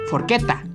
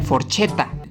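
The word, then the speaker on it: forchetta: forqueta que significa tenedor la chela sucede una e Por lo cual tendrá sonido de una letra k forqueta no se dice forcheta Sí ya sé no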